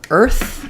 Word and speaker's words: Earth: have a question about Earth and health so even though here e a r says the ear vowel in Earth it says the IR sound um you'll see it